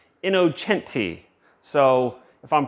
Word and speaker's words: Innocenti: Cooper inoen we have I know it looks like it says innocentti but I am told that it is pronounced inocente so if I'm pronouncing